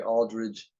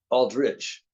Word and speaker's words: Aldrich: the most part I get people will say Aldridge Doug Aldridge and they won't even think of it even if they know the spelling um but it's pronounced Aldrich rich yeah Aldrich versus Aldridge and uh Tommy